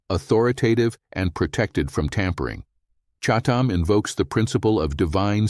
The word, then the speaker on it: chatam: Chatam is pronounced with a guttural ch sound that comes from the back of the throat, chatam.